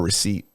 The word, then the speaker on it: receipt: I tell people, oh yeah, you spell And there's a silent P in there.